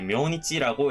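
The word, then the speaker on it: 明日: 아스보다 더 정중하게 내일을 말을 할 때에는 음독을 써가지고 이제 묘니치라고 읽을 수가 있는 경우가 있으니까 가필을 해두시면 더 좋을 것 같아요.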